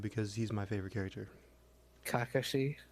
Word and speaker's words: Kakashi: Kakashi. Yeah, that's how they say it. That's how they say it in the show.